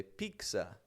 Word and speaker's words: pizza: It's a very quick pause, but you hold the air back, and then a quick z to let it go.